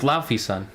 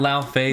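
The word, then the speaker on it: Laufeyson: this now we know his name is laughy son not loud face well we already knew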